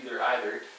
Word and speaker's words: either: Technically, either is correct, either. However, I do believe first pronunciation would be the long E, either.